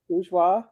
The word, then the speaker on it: Bourgeois: Oreos are what the bourgeois think poors want to eat. Yeah. Is that my first saying that right? Bourgeois. Bourgeois.